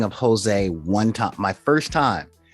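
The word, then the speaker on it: José: spelled, and I'm like, Jose? Yeah. And my friend Jose was like, no, that's my name. Jose? Like, yeah. In Spanish, you pronounce the J like this, and this is 2 syllables. Jose.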